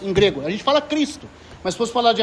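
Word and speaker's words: Χριστός: a mesma letra do Christos em grego. A gente fala Cristo, mas se fosse falar de acordo com a pronúncia grega, é Christos. Ou Christos, né? Porque o X tem o som de ki.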